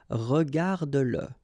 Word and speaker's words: regarde-le: Remember that if you've got, in some situations, the pronoun le, and if it comes after your verb, like in that case, then you will have to pronounce it. Okay, so regarde-le, regarde-le, all right, regarde-le.